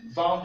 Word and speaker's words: vendent: singulier, nous avons ils vendent, elles vendent. Il faut noter quelque chose en français, le ENT, comme je vous l'ai dit, n'est pas prononcé.